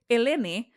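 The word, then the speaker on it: Ελένη: You can tell they're alphabetical, but of course Helen, no H. So Eleni, that's Helen.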